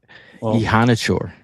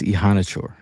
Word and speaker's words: Iheanachor: Ihanachor, Max Ihanachor. Okay, it's spelled Iheanachor.